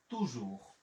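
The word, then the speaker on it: toujours: জি এর জন্য নিলাম হচ্ছে বর্গীয় জ, ও ইউর জন্য নিলাম আবার রস্যকার, আছে এর, তাহলে আমার উচ্চারণ হলো তুজুর, তুজুর, তুজুর।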